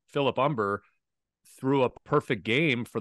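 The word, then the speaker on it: Humber: uh Philip umber yeah umber but don't pronounce the h Philip umber threw a perfect game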